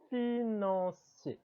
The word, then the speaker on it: financier: Le financier. Notez que les lettres E et R associées en fin de mot se prononcent et.